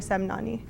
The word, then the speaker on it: Semnani: study thank you for joining me today Mr semnani thank you for having me it's an honor